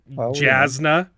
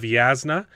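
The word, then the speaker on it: Jasnah: okay he keeps correct he keeps correcting me for saying jasna instead of yasna and yet Shai here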